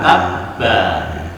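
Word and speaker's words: تبّ: Di ujungnya juga ada wa tabba. Di ujung ba itu ada tasdid. Kalau ada tasdid atau double dalam bahasa kita, maka kita membacanya ada jeda seperti tabba.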